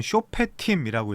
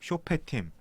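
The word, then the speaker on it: שופטים: 어 자 사사기 넘어가면 사사기는 쇼페 팀이라고 읽을 수 있어요 히브리어로 쇼팀 사실상 재판들 재판관들이 개념이죠 여호수아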